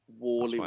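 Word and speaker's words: Warley: Wally why why is it but is it it's spelled W A R isn't it W A R L E Y Wally say Wally so it was the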